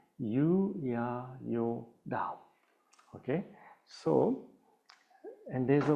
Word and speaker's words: Tao: Okay, so it's spelled with a T, it's pronounced with a D. Yu Ya Yo Dao.